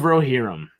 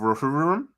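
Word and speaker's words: Rohirrim: Rings The War of rerum yeah I think you've said that wrong I think it's the war of rum yeah it's the that's the correct Elvin pronunciation I would hope the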